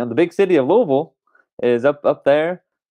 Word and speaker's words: Louisville: watch from all over the country it is pronounced louisville louisville louisville so we will the rest of the show